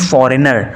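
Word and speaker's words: foreigner: तो देखिए जी यहाँ पर साइलेंट होता है, हम क्या बोलते हैं, हम प्रोनाउंस करते हैं फॉरेनर, तो यहाँ पर जी आता ही नहीं है, और यही यहाँ पर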